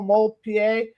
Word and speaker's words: Demoulpied: Just make sure you put the D in there, since you don't hear it when you pronounce it.